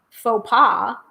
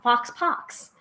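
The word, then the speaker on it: faux pas: um is that um I mispronounced faux PA for years as Fox pox um so shared that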